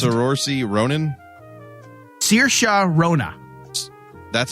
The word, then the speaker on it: Saoirse: was actually proud Saoirse Ronan Saoirse Ronan that was that shot Saoirse Ronan si oh I thought you how did you pronounce it sir or C or some like that I will be fair with you on this one because that's how I would try to pronounce it as well however is pronounced Saoirse Ronan all right next